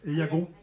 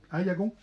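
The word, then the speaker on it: Aillagon: fondations dite loi je sais pas si on prononce comme ça. Eagon. Aïagon. Aïagon OK permet aux collectivités territorial de bénéficier de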